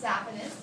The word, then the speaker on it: saphenous: And this is known as the great saphenous or saphenous. I pronounce saphenous.